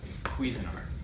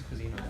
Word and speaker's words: Cuisinart: Cuisinart. What, Rishi? Did our account give it to you? Yeah, I think that's how you pronounce it. I think it's Cuisinart.